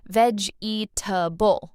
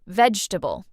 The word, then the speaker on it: vegetable: Learners often say veable all four parts, but native speakers say vegetable, shorter, smoother.